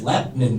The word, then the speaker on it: Lebanon: It's Lebanon, by the way. It's not, they got an extra syllable when they spell it in English.